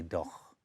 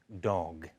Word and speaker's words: dog: Because in English, we don't say doch. We don't say doch, we say dog with a softer G.